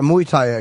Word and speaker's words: Muay Thai: Do you have because you're a Muay Thai kicker, right?